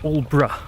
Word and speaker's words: Aldeburgh: It is pronounced Aldeburgh, so all as in all, and bruh as in bruh.